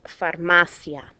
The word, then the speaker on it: farmacia: That's why this word here is pronounced farmacia. I guarantee some of you have pronounced it farmacia. It would not be farmacia unless there were an accent breaking the diphthong.